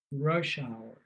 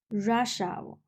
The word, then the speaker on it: rush hour: Rush hour. Rush hour. Yeah. Oh, So the stress is on the first part, rush hour. rush hour. Yeah. So the wrong way to say it is rush hour.